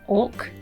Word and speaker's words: auk: looked it up and we call it an orc an auk is spelt it just draws me